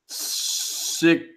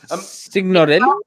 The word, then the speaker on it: Signorile: Signorelli? It's Italian. Yeah, so you have to pronounce every consonant, or sorry, every vowel separate. Like everything's got to be separate. So signorile.